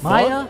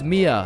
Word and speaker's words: Mia: the Maya is is Maya present uh it's it's Mia wow quit the name